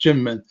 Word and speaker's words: Kinmen: And the most famous one that is on the list is Kinmen, pronounced Jinmen in the Chinese pronunciation.